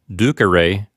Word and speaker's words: ducere: the four principal parts, we see that it's ducere, with a short e near the end. The third letter from the end is a short e. If it were ducere, that would be second conjugation because it would have a long e there. But it's not ducere, it's ducere. The e, three letters from the end, is short. So the accent recedes one syllable to the left and you get ducere.